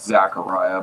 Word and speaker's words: Zachariah: Zachariah, is that how you say it? Well, we pronounce it Zachariah, but it's either way.